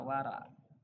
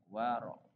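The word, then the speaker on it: وَرَع: Di sini kalau secara latin tulisannya namanya wara. Tapi kalau kita membacanya dengan secarah bahasa atau dengan secara arabnya yaitu menggunakan dengan waro dan itu ada tanda titik atasnya ya itu dikatakan namanya ee ain itu ya wara gitu kalau kalau menggunakan dengan Arabnya.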